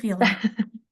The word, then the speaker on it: Violina: It is Vleta.